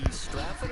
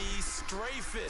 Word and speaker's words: Strafen: It was held in mid-December, and your winner, I.B. Straffen, or is it I.B. Strafen? You've got the pronunciation guide. I.B. Strafen. Strafen. My bad, Mr. Strafen.